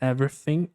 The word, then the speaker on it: everything: Olha só, a pronúncia everything. Ever. Parece que você nem parece que nem dá para ouvir direito o som de G, mas tem um sonzinho no final. Então fica everything. Everything.